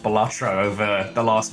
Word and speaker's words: Balatro: little supercut of all the different ways I've pronounced Balatro over the last, like, year. Balataro, I think, was my favorite.